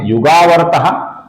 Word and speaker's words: युगावर्तो: आगे का नाम है युगावर्तः, आगे न आने के पश्चात युगावर्तः का जो विसर्ग है इसका ओ बन जाता है, अर्थात युगावर्तो हो जाता है।